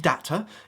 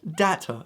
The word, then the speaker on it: data: it doesn't use much data. Hopefully you're on Wi-Fi as well, but make sure to say data. If you want to say data, go back to the States. It's not how you say it.